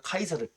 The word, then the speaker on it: 카이사르: 읽으면 우리가 영어식 발음으로는 시저 아고 읽어요 그런데 이제 어 시저 아고 알고 있는 거는 조금 옛날 스타일이고 이제는 원어의 발음을 살려서 우리가 카이사라 기억을 해 주기 어